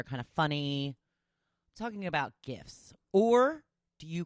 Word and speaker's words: GIF: they were discussing this how do you pronounce it it's a gif or is it jiff and that's what Leonard sent he goes well I think it's a hard G because it's based off of graphics so jiffy peanut butter